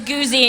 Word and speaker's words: Guz: You should know how to pronounce my last name by now. It's Goozy, in case anyone's wondering.